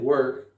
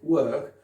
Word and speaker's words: work: work, à la britannique work, ici c'est un son E, un son A, comme dans bird ou bud, work, c'est la même chose, d'accord? Attention, on ne prononce pas avec un O, sinon ça casse tout.